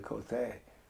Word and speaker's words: Cote: Cote, he called me Cote, and which is the proper pronunciation.